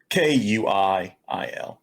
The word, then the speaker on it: Kuiil: Kuiil.